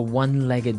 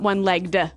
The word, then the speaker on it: one-legged: leg ah okay and the pronunciation here is important right onelegged not oneel legged no onelegged so you can say